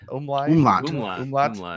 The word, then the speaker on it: umlaut: Like an amulet over it. Is that how you say it? Amulet? Umlaut? Umlaut.